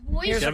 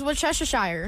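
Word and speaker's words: Worcestershire: And the the sauce name is worester. No, it's Wesshire.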